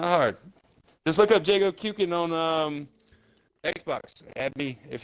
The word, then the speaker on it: Jago Kuken: For anybody who pronounces this incorrectly, it's Jago. Jago. The last part of my name is Jago's Fireball in Killer Instinct. He goes Endo-Kuken. Endo-Kuken. So it's pronounced Jago Kuken.